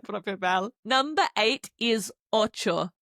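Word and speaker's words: ocho: Number eight is oo. O c h o oo. If you're a chocolate fan, it sounds a teeny bit like Oreo.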